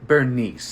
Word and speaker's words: Berenice: It's called Bernice, except it's spelled Berenice for some reason that only God knows, and he's not sharing it with me.